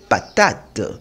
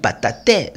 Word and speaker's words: patate: De même pour le mot patate. Je ne vais pas lire patate. Non, j'ai 3 syllabes. J'ai pas, ta, te. Mais comme le E se trouve à la fin d'une syllabe, sa prononciation est muette. Donc je lis patate.